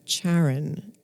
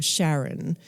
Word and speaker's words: Charon: the largest moon of Pluto was subsequently named Charon or Sharon whichever way you want to pronounce it which is the name of The